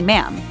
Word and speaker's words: Ma'am: 'Your Majesty' and subsequently 'Ma'am,' pronounced with a short 'a,' as in 'jam.”